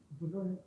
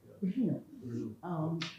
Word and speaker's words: Brno: And she was in Brno, I don't know how to pronounce it. But no, there's no vowel. Oh, yeah. Brno, in Czechoslovakia.